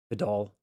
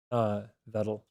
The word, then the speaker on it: Vettel: All right, Vidal. I guess that wrong and fastest on the wrong syllable. Vettel.